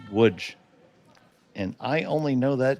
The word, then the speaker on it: Łódź: Now, that is spelled Lodz, but it is pronounced Łódź.